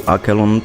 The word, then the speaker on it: Aralon: a land called Aron so aralon is the right pronunciation Legend say that for